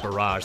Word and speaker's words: barrage: Barrel barage don't barage me I keep saying bar it's actually pronounced barrage that's the real pronunciation I kid you not